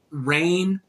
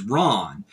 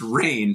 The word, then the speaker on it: Rahne: that feral character or rain I always thought it was Ron the the little she wear wolf a she's such a great character but I just found out that it's pronounced rain so I had to